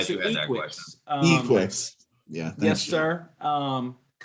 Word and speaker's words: Equix: You pronounce Glad it you had that Equix. Equix.